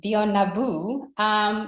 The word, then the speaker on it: Bionabu: I hope my pronunciation is right. Yes, Bionabu.